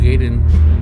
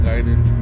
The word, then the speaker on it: Gaiden: Actually, that's how it's pronounced, actually. Ninja Gaiden, not Gaiden.